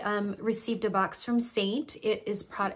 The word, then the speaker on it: Seint: name of the company to Saint and Saint is spelled French with an e um and I love